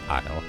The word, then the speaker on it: isle: like you too so isle is pronounced like isle because english is dumb you say don't worry